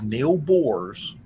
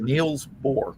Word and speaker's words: Niels Bohr: the guy was Neil Bohr's. Or, Oh. I'm sorry, Niels Bohr.